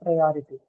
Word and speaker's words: priority: So the stress is marked onto the syllable before the one carrying ity.